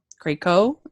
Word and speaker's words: Krakow: Krakow. Oh. Yeah, like Draco.